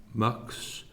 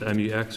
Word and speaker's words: Mx: So it just says, don't use the term miss, use the term mucks, MX, or pronounced as MUX.